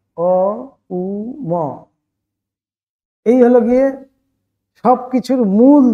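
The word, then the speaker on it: ওঁ: এই জন্য ওঙ্কারের নিয়মই হলো কি, ওঙ্কার যখন আমরা উচ্চারণ করব, অং ওম অনেকে অনেক রকম বলে দেয়, তো অ্যাকচুয়ালি কিন্তু বলতে হবে অকার, উকার, মকার, এই তিনটি আকার মিলে গিয়ে ওঙ্কার। অকার, উকার, মকার, অ উ ম, এই হলো গিয়ে সবকিছুর মূল।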